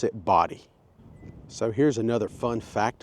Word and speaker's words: Bodie: it says it's pronounced body. B O D Y. I did not know that. Even though it is spelled B O D I E locals say body and the name way